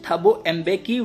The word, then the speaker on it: Thabo Mbeki: Then next page, Thabo Mbeki, it is pronounced Thabo Mbeki, was sworn in as first deputy president.